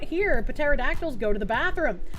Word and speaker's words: pterodactyl: Fun fact, through much research, scientists have recently discovered that you could not hear pterodactyls go to the bathroom. The P is silent.